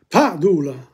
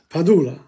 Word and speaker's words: Padula: Throughout Australia, with few exceptions, stress was on the first syllable of a word. The stress. Padula. That's my surname. Padula. That follows this type of idea.